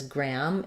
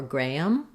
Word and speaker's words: gram: I do have a video for this, and we do pronounce it as gram in the US. In UK, I think they say more Graham with like Graham. But we say it's similar to gram with just the a vowel.